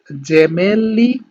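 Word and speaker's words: gemelli: আমি এগুলো আরেকবার আপনাদেরকে উচ্চারণ করে দিই, সেটা হচ্ছে জেমেলি, জিরাফা, জেন্তে, জেসো, যুবত্ব, জাক্কা, giusto giornale।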